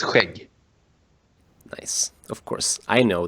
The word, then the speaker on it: skägg: For you guys out there, here on the West Coast we say skägg. And in a sentence, Ta hand om ditt skägg, grabben.